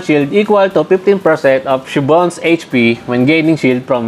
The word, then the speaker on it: Siobhan: I was told that it was that kind of pronunciation. Not Siobhan. Siobhan.